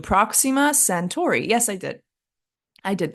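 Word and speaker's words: Proxima Centauri: to Earth other than the sun is called Proxima centor did I pronounce that right I put the phonetic pronunciation because I knew I was going to mess up that pronunciation Proxima sentor yes I did I did pronounce it right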